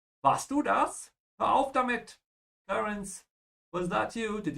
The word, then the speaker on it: damit: Yeah, in English, you make the A longer. In German, you have to make the I longer. Damit.